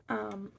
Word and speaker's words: Hoosier: But I did my research, and they're from something called and forgive me if I mispronounce this, a Hoosier cabinet. It's Hoosier, and they're from Indiana.